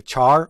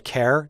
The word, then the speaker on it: char: to discuss is a a Char or a care depending on how you pronounce it uh we've talked mainly